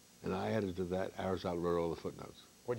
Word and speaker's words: Aristotle: Old man Aristotle. It's more my problem than yours. Rhymes with bottle.